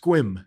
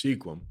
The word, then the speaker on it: Sequim: town called Sequim squib squeamish at site it's pronounced quim quim really squirm it's a Native American or